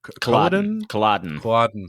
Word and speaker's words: Culloden: Culloden, I believe is how you say it.